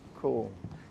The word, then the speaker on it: Caol: to call it cold i know it's spelt that way but it is pronounced cool if you didn't know